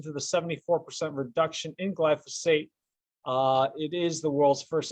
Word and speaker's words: glyphosate: It is pronounced glyphosate, not glyphosate or glyphosphorus or anything like that.